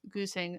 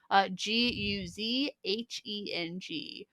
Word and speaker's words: Guzheng: the Japanese koto or Chinese goosing. I'm really sorry about that pronunciation. Guzheng.